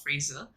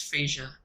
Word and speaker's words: Fraser: it's pronounced uh it's it's not the american ways it's not fraser it's frasier it's like i i can't even pronounce it right but when i hear